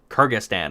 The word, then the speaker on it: Kyrgyzstan: escaping me right now Kyrgyzstan the one with a really weird spelling named Carla that is pronounced Kyrgyzstan I am told I'm